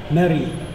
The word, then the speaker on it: መሪ: የደርግ ዘመን መሪ ኮሎኔል መንግስቱ yes መሪ okay. Do you pronounce H or you don't? መሪ መሪ መሪ there is, but it's not stressed.